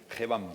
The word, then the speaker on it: GEBAM: A Jaime, CEO ¿cómo se pronuncia? GEBAM.